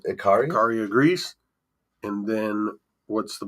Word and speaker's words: Ikaria: And then how do you pronounce the place in Greece? You're looking at Ikaria, I believe. Ikaria, Greece.